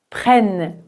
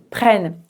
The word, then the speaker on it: prennent: Il n'y a pas d'accent mais le double N va faire que le e se prononce comme un e ouvert prenne prenne.